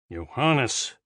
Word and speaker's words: Johannes: The butler pronounced the name with an English J, incorrectly. Kepler sighed. "Think of it as a Y, Johannes."